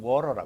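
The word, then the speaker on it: water: 없어 그 이유가 있어요네 모음과 모음 사이에 그걸 단이라 그러는데 드나 트가 오면은 그걸 리얼로 발음을 해줘요 그래서 워터를 우리는 그대로 발음하는데 사전적으로 미국 가면 워라 그래 그 이유가 아크를 중심으로 하고 양쪽에 모음 있을 때는 리얼 발음 처리를 한다 그게 미국 발음이에요 그래서 워프리 한번 따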